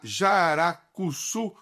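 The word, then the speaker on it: jararacuçu: e ela estuda uma espécie de jararaca, a jaracuçu, pronunciei correto, Eletra, é isso mesmo?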